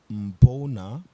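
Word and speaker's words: Mbuna: Mbona, pronounced Mbona, are a group of seashells from Lake Malawi in Eastern Africa.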